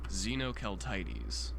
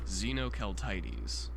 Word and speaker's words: Xenoceltites: it will play an audio clip of me pronouncing the species. So, let's do that real quick. How do you say this name? Xenoeltites. Okay. Are you sure? Can you Can you say that again? Xenoelites.